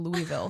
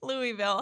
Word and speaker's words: Louisville: or louville okay so I used to say Louisville however um my boyfriend's sister just went there over like a summer ago or something and she's very insistent on the correct pronunciation so I have to get it right louville is that what